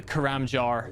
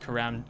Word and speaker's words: Karamja: your your truth crushed the karam jar is not actually pronounced karam karamja.